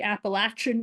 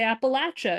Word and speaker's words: Appalachia: is uh if you're if you're from the Appalachian region you probably say Appalachia if you're from outside of it you probably say Appalachia that is I do